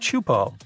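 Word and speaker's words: Teahupo'o: It's pronounced Chupo, and it means broken skulls in Tahesian.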